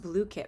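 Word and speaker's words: Blooket: So and I guess it's pronounced Blookit, but I always call it Blookit, so I guess I've been wrong this whole time.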